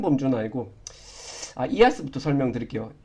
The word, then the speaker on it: IaaS: 제일 큰 범주는 아니고 이아스부터 설명드릴게요. 여기 이제 IaaS라고 적혀 있는데 이걸 이제 보통 이아스라고 읽고 그 다음에 파스, 그 다음에 사스라고 읽습니다.